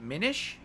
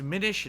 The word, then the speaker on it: Minish: Is it Minish? It's Minish, not Minish. Minish as in diminished.